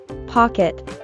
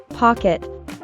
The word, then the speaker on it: pocket: Note that the O is pronounced as an sound. Pock. While the E is pronounced with a short sound. Pocket. Pocket.